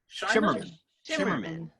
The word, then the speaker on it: Shimerman: I've never known how to pronounce his name. Shimmerman. Yeah. Okay. Well, thank God. I had a 50-50 shot, and I've been saying it right all these years.